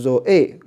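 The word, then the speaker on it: ζωή: 所以这个是 zo，那这个呢是 a，那重音还在后面，所以你读的时候就是 zo a zo a 就是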